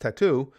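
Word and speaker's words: t.A.T.u.: Big Green says, that TATU is pronounced tattoo, was a Russian girl pop duo.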